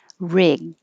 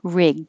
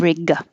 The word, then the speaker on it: rig: depending on either way rig you just hold your tongue in the g position rig instead of riga payee payee steadily steadily